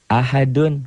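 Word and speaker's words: أحد: Ahad bacanya ada e-nya. Kayak bola yang mantul jatuh tidak langsung diam, mengeper, mengembal.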